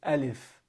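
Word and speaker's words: ألف: Some people say Alif. All right? It's not Alif, it's Alif.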